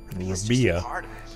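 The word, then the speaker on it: Rabi'ah: Rabia.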